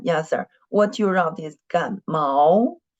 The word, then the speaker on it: 感冒: What you wrote is 感冒. It's not mao, it's mao. Mao, which tone? Mao is not mao. Mao, mao. Yes, right. The fourth tone.